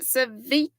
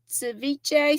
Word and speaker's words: ceviche: Did y'all know about that cevich ceviche stuff?